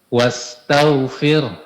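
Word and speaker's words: واستغفر: Ya, tinggal sedikit tadi hati-hati dalam mengucapkan wastagfir. Di sini dua yang perlu diperhatikan. Pertama, menipiskan huruf ro. Karena di sini kondisi rnya sukun sebelumnya kasrah. Maka ini adalah kondisi ra yang ditipiskan. Ya. Yang kedua, jelaskan huruf ha-nya. Wastagfir fir eh gitu. Wastagfir. Coba, Pak. Wastagfir. Nah, tinggal di H-nya, Pak, ya. H-nya lebih jelaskan.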